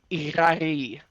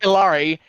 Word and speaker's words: Ihari: I say Ihari. Like, it's not like Ilari, but people try and run their L's.